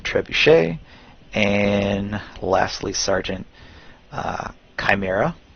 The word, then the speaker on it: Chimera: and lastly Sergeant uh Chimera some some call it Shamira but Chimera is how I pronounce it um and has standard